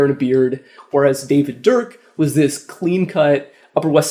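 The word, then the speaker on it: Durk: This was a guy named David Dirk. Don't get that name wrong. David Dirk, not David Duke. Not David Derp either.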